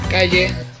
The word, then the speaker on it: calle: Yes, in some parts of Argentina we pronounce the double L as a sh. This is called the shesheo.